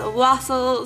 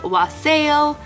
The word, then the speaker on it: wassail: Now, some people pronounce this wassail, some people pronounce it wassail, but it's basically a spiced holiday drink.